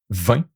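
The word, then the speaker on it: vingt: You don't pronounce the GT. 20. 21. Like you see that it was not pronounced the GT, but now the T is pronounced 20.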